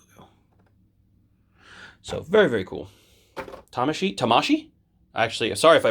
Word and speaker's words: Tamashii: not bandai's logo it's tamashii's logo so very very cool tamashii tamashii actually sorry if i butchered the japanese pronunciation i thought it was always the emphasis is always on the third syllable but i don't it's